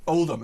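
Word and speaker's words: Odiham: She said, I worked at RAF Oldham, O-D-I-H-A-M, how do you pronounce it? Oldham, it's Oldham, sorry, she spelled that correctly.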